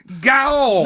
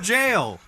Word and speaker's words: gaol: Yeah, I knew it was a prison, but I thought it was pronounced gaol. No, it's pronounced jail.